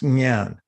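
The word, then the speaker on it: jnana: gyan which is uh spelled with j-n-a-n-a nyan it's pronounced nyan and knowledge so it's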